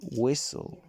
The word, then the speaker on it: whistle: in the english language yet in the middle of silent listen it disappears instead the t becomes a little like another slightly shorter s listen becomes listen whistle is whistle here's a few more